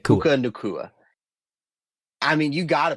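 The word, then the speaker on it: Nacua: How do you pronounce his last name? Nakua. Nakua. Puka Nakua.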